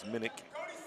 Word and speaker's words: Minich: we've been pronouncing minutes we're told it's Minich and by Cola is